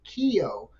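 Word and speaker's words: Keogh: for essentially professionals self-employed called a Keo k-e-o-g-h I believe it was a uh Cajun senator from Louisiana the French yeah that's where the pronunciation comes from and Dean I haven't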